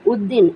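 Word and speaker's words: Uddin: ইউডি, ইউ ডি, উদ, ডি আই এন, দিন, উদ্দিন, ইউডি, would, D আই এন, দিন, উদ্দিন।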